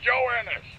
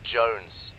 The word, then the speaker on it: Jones: him for you private joanis joanis joanis where the hell are you sir for the millionth time my name is pronounced Jones Jones shut up joinus seriously